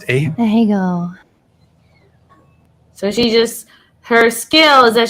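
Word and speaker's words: Ahegao: How's it pronounced? Ahego.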